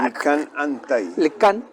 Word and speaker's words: Lickan Antai: Con CK, que es una se pronuncia Licán Antay. Licán.